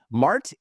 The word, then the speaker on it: Mart: love Manhattan apartment but you grew up in Mart Texas if I got the pronunciation correct you got it right I'm impressed